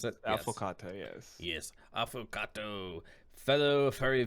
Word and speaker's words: Affocatto: It's affocatto, right? Is that how you would pronounce Yes, it? affocatto, yes.